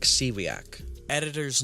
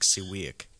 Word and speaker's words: Siwiak: Henrik Sewaki's note that is not how you pronounce his name. I am very, very sorry, Henrik Siwak.